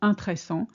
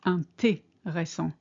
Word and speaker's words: intéressant: What shall you pronounce intéressant in French? It's not intéressant, it's intéressant. Le voyage en voiture était très fatigant.